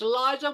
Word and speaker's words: Liza: And my daughter then used to say that to everybody, used to sing it to everybody and say, it's Liza with a Z, The Z. not Lisa with an S.